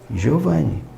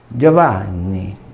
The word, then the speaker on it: Giovanni: Eu vou dizer Giovanni. Imagina se eu disser Giovanni, Giovanni. Porque na Itália, como tem letra dobrada, eu tenho que estender a sílaba. Giovanni.